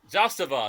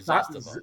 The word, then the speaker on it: Zastava: Zastava is how you say it, actually. Zastava.